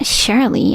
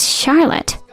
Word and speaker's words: Charlotte: I'm your dad right it's not shley it's Charlotte I don't have a